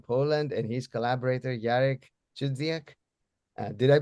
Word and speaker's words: Chudziak: Um I'm I'm very happy to uh to be hosting my friend Bartk uh from Poland and his collaborator Yarik Chzak. Did I pronounce the name correctly?